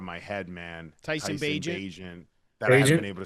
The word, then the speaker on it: Bagent: Bagent.